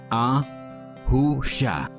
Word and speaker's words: Yahusha: Se pronuncia Yahusha.